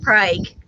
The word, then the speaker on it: Prague: prague oklahoma but it's felt pr but it's pronounced prague little yeah and it's it's it's actually a